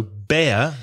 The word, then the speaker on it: bear: of course is Sarita so bear the animal is air like hair stare they're the same sound bear and beer is the same as ear or here so just remember you